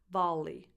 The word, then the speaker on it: volley: And you only pronounce one L, basically, volleyball, volley, and the second vowel is a tense E, volley, not volley, volley, E, volleyball.